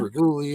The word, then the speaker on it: Reguli: Like regular, I always tell people, like regulate.